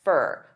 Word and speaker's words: for: of these together and they'll pronounce four as more of a unstressed fur fur a fur a bit